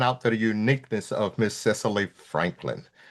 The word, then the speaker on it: Cicely: Yeah, Cicely like Cicely Tyson.